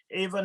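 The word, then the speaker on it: איבה: Ava, not the woman's name Ava, but Ava is spelled Aleph Yud Bet Hey.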